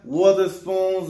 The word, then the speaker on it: Wotherspoon: Very, very, very delayed W on the Sean Wotherspoons or Wotherspoons, however you want to say his name. No, I'm definitely sure it's Wotherspoon.